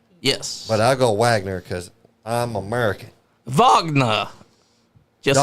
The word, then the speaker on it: Wagner: It's actually pronounced Vagner. Yes. But I go Wagner cuz I'm American.